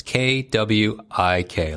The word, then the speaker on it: Kwik: It's KWIK, like a quickie mark and like Simpsons or something.